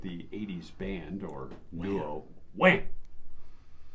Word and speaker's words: Wham!: 1994, George Michael, former member of the 80s band or duo, Wham! You got to say it like that because they have an exclamation point.